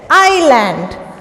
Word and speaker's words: island: Now where we have land and water on all the sides, it's an island. I-S-L-A-N-D. Now here S is silent, okay? We say island.